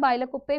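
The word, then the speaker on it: Bylakuppe: पर आपको मिलेगी ओके बायलो कुप्पे हाउसेस इसको बायलो कु भी बोल सकते हैं बायलो कुप्पे भी आप बोल सकते स्पेलिंग याद कर लेना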